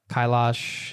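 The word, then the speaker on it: Kailash: mentioned the famous uh Mount Kyash uh pilgrimage. I hope I'm pronouncing that correctly. Um you are where you circumn that mountain I believe.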